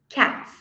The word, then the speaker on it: cats: então a primeira palavra Provavelmente você pronunciou cats cats e está correto então vou falar cats com som de s terminou com s falei com som de s cats agora agora dog dog